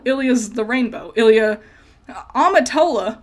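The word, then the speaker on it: Amitola: the rainbow Ilia amatola which I found out I've been saying it wrong this whole time I've been calling her Ilia amalita and that's wrong the dyslexia has has screwed me over I've been reading her whole name wrong amatola means rainbow so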